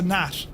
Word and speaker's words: Gnat: Was it a Nat or a Gnat? Um That's awesome looking, look. It's a Nat. Okay, sorry, it's good to see you, buddy. So, it's a Nat.